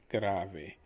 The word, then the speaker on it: grave: something that is very serious is gravi it's spelled like the word grave so it's pretty easy